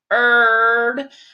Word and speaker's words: heard: because if you say heard I do not hear the a the a in the a are in her I hear H II heard the a is silent okay so now we